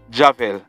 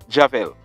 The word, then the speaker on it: Javel: That man, his name is Javel Dias, or Dias. His first name is spelled J-A-V-E-L, and his last name, D-I-A-S.